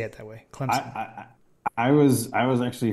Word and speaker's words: Clemson: you familiar with this a lot of people pronounce it where like there's a p in it Clemson which I feel like I kind of Say It That Way Clemson I was I was